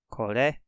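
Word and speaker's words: これ: Kore. That's how that's pronounced.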